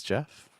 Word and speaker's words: Jeff: Hello, my name is Jeff. Rhymes with breath.